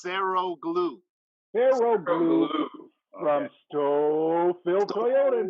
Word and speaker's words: Saroglu: It's pronounced Saroglu.